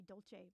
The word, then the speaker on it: Dulce: Is that how you say it? I'd say Dolce.